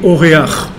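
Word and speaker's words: אורח: En hébreu, un invité, on dit Oréach. D'accord? Oréach. Oréach, ça s'écrit quoi?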